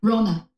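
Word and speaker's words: Rhona: know we've talked plenty of times uh yeah Rona Ro say again Rona Rona Rona Rona Rona Rona Rona how do you spell it r h o n a r h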